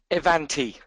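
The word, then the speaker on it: Ivanti: up to speed um evanti e e pronounced double e uh in instead of the i e van um is the new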